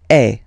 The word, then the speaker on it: es: And for tu, then you've got this combination of letters, okay? But then basically the sound you will pronounce or you will produce is e, okay? Tu e.